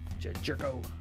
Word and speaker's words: Gyorko: that far Carlos rogue on 150th stamped parallel jerko jedd gyorko is one of those guys whose